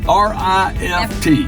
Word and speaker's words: rift: I've seen this before they used to say it was a riff Valley a riff Valley was where something came through and ripped it up this is not this is one how do you spell that word r i f t r Rift like a rift between